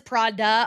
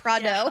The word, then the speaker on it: Prado: Like I think he says Prada on purpose instead of yeah. Prado.